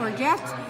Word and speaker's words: orgeat: Orgeat? Yep. Orgeat and lime. You know, I tried to make my own orgeat. Is that how you say it? Yep. Orgeat.